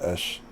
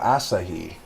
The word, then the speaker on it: Asahi: what I mean about ush is it oh Asahi I've been pronouncing his name wrong the whole time but you'll see more